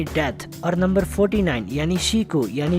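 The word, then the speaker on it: 死: It's because Japan में number 4 और death दोनों के लिए एक ही वर्ड प्रोनाउंस होता है, शी।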